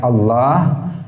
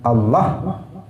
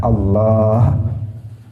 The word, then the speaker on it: Allah: Misalnya seseorang menyebut lafzul jalalah Allah, dia menyebutnya misalnya dengan memendekkan lam di tengah yang harusnya panjang. Harusnya Allah, dia mengatakan Allah. Maka ini adalah ilhad. Kenapa? Karena dia membacanya dengan tidak benar. Harusnya dia yang lain pendek kecuali lam di tengah harus dipanjangkan, Allah.